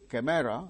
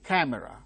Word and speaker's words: camera: father open open again open cámara no camera it's not chimera it is camera the initials syllable wrong